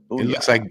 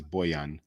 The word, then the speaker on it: Bojan: I thought it was Booyah. It looks like Bojan, but it's Bojan.